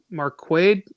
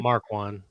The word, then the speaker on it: Marquand: I got Ross Marquade. Is that how you say his name? Marquand. Marquand. I can never Yeah.